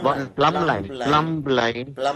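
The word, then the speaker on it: plumb line: We know this from the from the edge of the I plum line. One plum line. Plum line. Plumbumber. But we we don't pronounce B.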